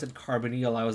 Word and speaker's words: carbonyl: for the longest time i i didn't even pronounce it carbonyl i was like carbonal and that i got yelled at a lot